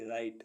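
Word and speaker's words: write: काम किया हुआ डब्लू आर आई टी ई राइट राइट means लिखना डब्लू आर आई एन जी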